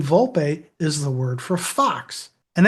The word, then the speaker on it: Volpe: When she tells him who she really is, too, Fiona Vulp, she pronounces it Vulpi. Now, if that's Italian and it's spelled with an E at the end, shouldn't it be Vulp? It should be Vulp.